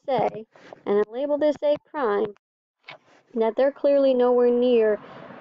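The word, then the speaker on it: A′: Now, technically they're ticks, but we pronounce it A prime. A prime. B prime. Right? So the mathematics is that it's a little tick mark, but you pronounce it A prime.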